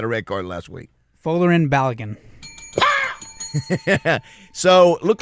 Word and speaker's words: Folarin Balogun: Folarin Balogun.